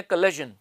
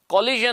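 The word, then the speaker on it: collagen: कोलेजन इ pronounced cousin कोलिजन नहीं पढ़ते इसको पढ़ते है कोलेजन ठीक है ना तो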